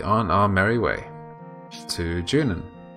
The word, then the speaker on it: Junon: And then we'll be on our merry way to Junon.